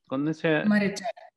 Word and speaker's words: Maréchal: Y bueno, me gustaría empezar por preguntarle, ¿sí, tu apellido se pronuncia Marechal? Marechal.